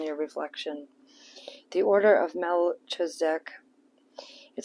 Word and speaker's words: Melchizedek: The Order of Melchizedek. It says, embraced by light, mission uncovered, don't give up. It's pronounced Melchizedek. Melchizedek.